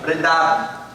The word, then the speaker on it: Vrindavan: Vrindavan.